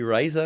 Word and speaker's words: RISA: We call it RISA, although technically I think it phonetically should be RISA in English. We call it RISA just because it means laughter in Spanish.